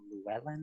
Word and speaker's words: Llewellyn: we have this side road, which is called Llewellyn, I believe. I don't know how you pronounce that. Any comments about this intersection? Llewellyn is correct, yes.